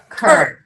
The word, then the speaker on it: Qurbshot: Curb. Okay. I know it's a little quirky because it's spelled with a Q.